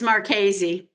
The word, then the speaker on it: Marchese: It's Marchese. Marchese. I never should pronounce anybody's last name because I always get it wrong.